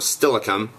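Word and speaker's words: Steilacoom: spooky happenings it's in the old town of stilikum and uh oh that's spelled s-t-e-i l a c o o m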